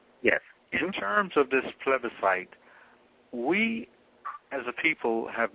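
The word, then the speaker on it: plebiscite: uh tell us about that well basically a pleite is used uh in the forming of governments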